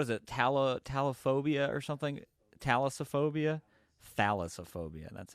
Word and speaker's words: thalassophobia: Thalassophobia.